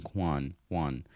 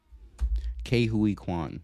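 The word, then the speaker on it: Ke Huy Quan: he got his role for Obie um um Kwan Juan I forgot how to pronounce it already let's run it back Ki Kuan all right got to keep that in mind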